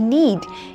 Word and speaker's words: knead: KNEAD, नीड, यहां पर भी के साइलेंट है।